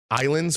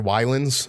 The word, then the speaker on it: Ylands: Islands or Wylands. It's Islands is how you pronounce it, but the one where basically it's like open world Minecraft on islands or whatever.